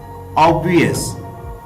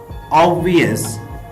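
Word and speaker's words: obvious: इसमें जो बा साउंड है ये प्रोनाउंस नहीं होगी, ये साउंड साइलेंट रहेगी, तो इसकी करेक्ट प्रोनाउंसिएशन है ऑब्वियस। ऑब्वियस।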